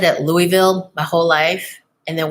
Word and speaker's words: Louisville: and I said at Louisville my whole life and then one day he was talking to me and he's like no Zowie it's it rhymes with oval Louisville what would you